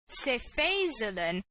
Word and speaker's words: cefazolin: The only exception is the one that I've written here, cefazolin, and if you pronounce it as cefazolin, you remember that the fact it's a first generation cephalosporin won't phase you.